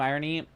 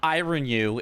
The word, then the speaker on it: Irony: We both started because somebody in the chat was like, it's not ironu, it's irony. And so we both were like, okay, we don't know how to say it. Sure. But no, it is irony.